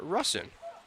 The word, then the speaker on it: Russin: take a look because we've been saying rustin up in the press box but now some of the guys on the team are saying rusin so we'll take a look that's why we have pronunciations it's tanner russin so we have been